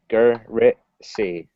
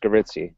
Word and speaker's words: Garitzi: Is that how you say it? Garizzi? Yeah. Garitzi. So just Garitzi. Yep.